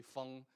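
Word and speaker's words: 鋒: But feng in modern Chinese doesn't rhyme with the other ones. It's actually feng. It's F-E-N-G. It's not O-N-G.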